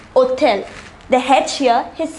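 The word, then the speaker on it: hôtel: a h mute here the word begins with h which is not a vowel however it is pronounced hotel the hedge here is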